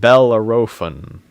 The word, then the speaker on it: Bellerophon: Pronounced Bellerophon.